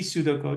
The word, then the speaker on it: pseudocode: It is not P pseudocode, it is pseudocode. P is silent.